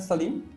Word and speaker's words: Saleem: to my viewers shortly did i pronounce that salim is that correct yes correct but in fact i